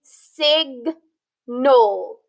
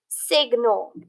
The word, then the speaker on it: signal: sound egg night okay or like in sig null signal or in the word designate so when we have that diagraph gn in the middle of a word it's going to be split and both consonants are going to have a sound instead of it just having that one sound then yesterday we learned